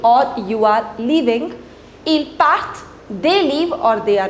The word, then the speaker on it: partent: Ils partent et elles partent. Remember, we do not pronounce this ENT.